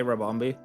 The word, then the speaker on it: Rabombi: It's actually weird how many people can't say Rabombi. Even though it's phonetically spelled. It's literally, you read it as it's written.